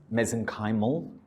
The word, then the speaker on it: mesenchymal: known as MSCs, or mesenchymal stem cells. I pronounce mesenchymal. With your accent, you'll pronounce it as mesenchymal. They're the same thing.